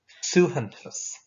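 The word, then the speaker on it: suaitheantas: So a badge is a suhantus. And that's a tricky one to pronounce as well.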